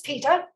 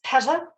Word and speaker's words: PETA: of people for the ethical treatment of animals peter often mispronounced as peta it depends where you are in the world